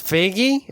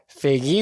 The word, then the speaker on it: Feige: pronounce his last name pretty sure we say now it's figgy okay kevin feige wants